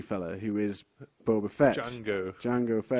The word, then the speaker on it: Jango: Boba fettjango Jango Fett Jango yeah it's no it's not Jango is it is it Jango it might be Jango Fett I think it is but not with a not with a silent D not like Jamie Fox